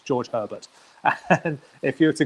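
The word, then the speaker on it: Georges Hébert: original ones were 7, and that's, if anyone wants to look him up, including yourself, his name is George Herbert, or phonetically in English, George Herbert.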